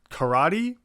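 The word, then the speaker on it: カラテ: Karate, karaoke, unlike in English where it's karate and karaoke. When you see that a in Japanese, you know it's always pronounced in that same way.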